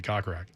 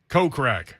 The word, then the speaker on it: Kokrak: That is not how you say his name. Kokrak. Yes. Ding, ding, ding, ding, ding. Coca-Cola. But he's from America. He's not from South Africa. If he was South African, it would be Kokrak.